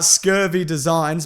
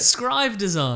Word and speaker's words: Scribe Designs: is from scurvy designs that's not how you say it how do you say it scribe designs this is from scribe designs okay since Aries was